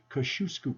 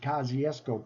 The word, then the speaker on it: Kosciuszko: imaginations Goofy cars park or properly called kashusku Park we called it Kosciuszko park the Americanized name of kashishku the people polls the